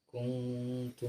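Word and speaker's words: كنتم: Bacanya jangan sampai kum sing dawa apa nih? Seolah-olah ada wawune kung lagi ngono. Tetapi apa? Kuntum.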